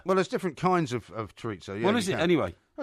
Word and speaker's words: chorizo: It's either chorizo or chorizo. You can pronounce it either way. No, you can't. It's chorizo. Anyway. It's spelled Chorizo, chorizo. Do you have it? It doesn't have an I on it.